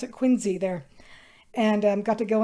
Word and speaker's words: Quincy: Adams home in Quincy Massachusetts that yes they pronounced at Quincy there and got to go in there and